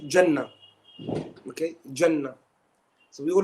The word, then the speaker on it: Jannah: Jannah. Okay? How would I write this? If I'm pronouncing it as Jannah with a ha at the end, how would I write this?